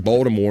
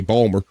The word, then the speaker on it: Baltimore: I live here in Baltimore, and sometimes people say Balmer. They don't even put the fucking T's in. Balmer. Balmer. There ain't no fucking T, nothing in it.